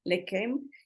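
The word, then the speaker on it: לחם: la palabra hebrea Legend se escribe con ch pero se pronuncia como como c o como K le queme Para qué quiere decir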